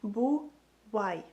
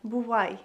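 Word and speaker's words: бувай: say goodbye in Ukrainian you would say it like boo why boo why bu why and we learn before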